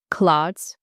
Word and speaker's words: clothes: People say clothes with 2 syllables, but it's just 1 syllable. Clothes. It sounds exactly like close, as in close the door.